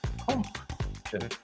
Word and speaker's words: Smashing Pumpkins: Gotta pronounce that second P. Pumpkins.